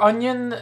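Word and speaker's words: oignon: As for onion, the I is silent.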